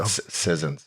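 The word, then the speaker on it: Sissons: Colton Scissors. That's how you say it. Sizzins.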